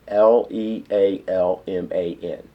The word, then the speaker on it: Lealman: minh Lealman different names and that spelled actually L e al ma n littleman and that's how I pronounce that Lealman and it seems to go